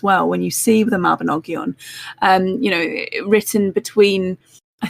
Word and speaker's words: Mabinogion: little bit into them, and I always struggle pronunciation wise on this, but the Mabinogi, is that how you say that? Mabinogian? The Mabinogion.